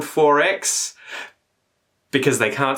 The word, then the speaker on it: XXXX: In Queensland, their preference over VB, Victorian bitters, is 4X. Why is it called 4X?